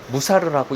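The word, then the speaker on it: מוסר: 일이라고 합니다 히브리어어도 마찬가지인데요 히브리어 원어는 무사라고 읽히며이 단어는 주로 교육적인 목적으로 행해지는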